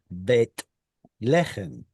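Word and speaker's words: Bethlehem: Because that th originally was a tav with no dagesh. But Right. eventually, modern pronunciation stopped doing that. And now in modern Hebrew, the name of the place is Bet Lechem instead of Beth Lechem. And anyway, so that changed over time.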